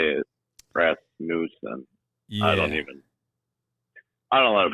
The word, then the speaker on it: Rasmussen: Rasmussen. Okay. Yep. Rasmussen.